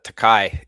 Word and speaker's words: Takei: They pronounce their e like a, like the sound a.